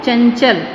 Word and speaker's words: चंचल: तो यहाँ पर ये अनुस्वार के रूप में ही लिखा जाएगा, लेकिन जब हम उच्चारण करेंगे तो उच्चारण में उसका पंचमाक्षर की ध्वनि उच्चारित होगी।